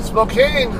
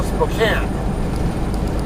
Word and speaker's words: Spokane: it was always spelled without the E, so Spokane. So, and I think people following their standard English linguistic rules, they always spelled Spokane Valley. So, I believe that's where the origin of the pronunciation Spokane came from, Spokane Valley. And then later on, they ended up truncating the valley part of the town, so it was just Spokane or Spokane, whichever you're looking at.